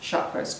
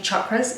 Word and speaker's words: chakras: so chakras which by the way are not pronounced chakras because it's one way to really irritate me it's actually chakras it's an Indian word and it means circle